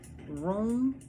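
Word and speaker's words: Rheum: hold on the latin the latin form of turkey rhubarb is room room not r-o-o-m but r-h-e-u-m pal matum okay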